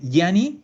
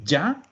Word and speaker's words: Gianni: Que aquí muchos dicen Gianni. No, es. La pronunciación es Gianni. Le voy a poner 3 N para que se acuerden de que hay que alargarlo.